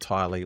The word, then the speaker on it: Tylie: So, her name is T Y L and uh pronounced Tylie like Kylie.